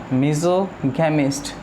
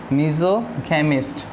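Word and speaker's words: misogamist: मिसोगेमिस्ट, मीज़ोगैमिस्ट, ध्यान से प्रोनाउंस करें इसको, मीज़ोगैमिस्ट, ठीक है।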